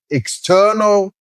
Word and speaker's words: external: Those are also pronounced by stressing the second syllable and they are pronounced as external and internal.